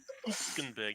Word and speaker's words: Hülkenberg: No, Hülkenberg. Like, Hülkenberg. That's how you got to say it properly, man.